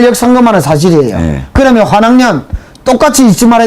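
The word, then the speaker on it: 환향녀: 아, 환양년. 환양년. 나는 발음을 한학년. 나를 이상하게 만드네. 그냥 내가 몰랐었어요. 깔끔한 거를.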